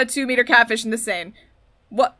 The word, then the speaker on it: Seine: Nope, there's no way you caught a 2-meter catfish in the Seine. What? The Seine. That's how you pronounce that word.